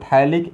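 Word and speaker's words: phthalic: इसको बोलते हैं, क्या लिखा है देखिए तो, यस, पीएच साइलेंट रहता है, थैलिक एसिड, और मेटा पोजिशन पर रहता है तो इसको बोलते हैं आइसोथैलिक एसिड।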